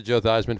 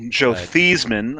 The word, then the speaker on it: Theismann: redskins but cheers to joe theismann for taking that and i know it ended his career but well joe thiesman until he decided to change the pronunciation of his name to rhyme with heisman okay on that